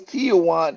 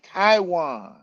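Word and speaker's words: Taijuan: Tijan. That's Taiwan.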